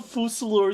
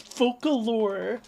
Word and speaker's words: Focalor: weeb stuff it's not it's not falor it's focalor focalor focalor I just like got